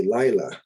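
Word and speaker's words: לילה: the day today okay lila notice the accents on the first syllable here lila means night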